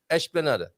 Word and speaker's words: esplanada: You shouldn't start with e, right? Because you have an es. Oh my, when you have an es, yes. and then you have an es and another consonant. Yes. You start with ish.